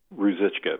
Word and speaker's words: Ruzicka: Is that the correct pronunciation? Ruzicka, but yes. Okay, Ruzicka. I wasn't too sure if he was actually using that very Czech pronunciation.